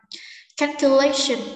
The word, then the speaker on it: calculation: Calculation, nhấn trước đuôi sin, trọng âm số 3, sự tính toán.